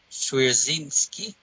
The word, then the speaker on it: Swierczynski: transitioned into to the next run by Dwayne Swierczynski. Yeah. I pronounced his name right.